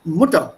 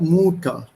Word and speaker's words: Mutter: Whenever there's a double consonant, the vowel coming before this double consonant is pronounced short. It's Sommer and not Sommer. It's Mutter, not Mutter.